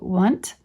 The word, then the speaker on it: won't: Used colloquially in New England, it is sometimes pronounced as though spelled want.